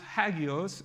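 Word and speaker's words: ἅγιος: that holy comes from and it's so it's pronounced hagios and besides holy you can see that that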